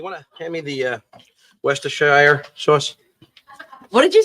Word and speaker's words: Worcestershire: You want to hand me the Worcestershire sauce? What did you say? Yo, Worcester sauce.